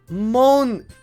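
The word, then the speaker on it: Monika: Monica.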